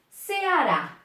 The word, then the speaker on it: Ceará: Ceará. Primeiro passo, separa as sílabas.